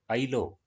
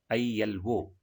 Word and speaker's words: ILO: Here, the abbreviated form, we are not pronouncing it as a word ILO, but we pronounce it as ILO.